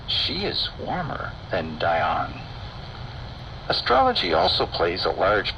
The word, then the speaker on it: Dian: Note that he removes the last A in Diana and uses Dion to rhyme with dry on later in the verse.